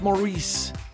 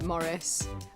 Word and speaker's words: Maurice: for centuries to come how many times it's Maurice Maurice how did you pronounce Maurice you pronounce Maurice like this you do not pronounce it morce Maurice is a intellectual highbrow pretentious Frenchman he's